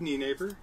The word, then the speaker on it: Nienaber: I'm Knee Neighbor. This is my son, Gavin. Knee Neighbor. Knee Neighbor, like your knees.